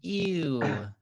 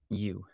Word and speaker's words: ewe: Why is the sheep named Ew? Because it's a U. I know it's a U, but it's EWE. It's like Ew. Yeah. It's pronounced U. W-E-Y. U.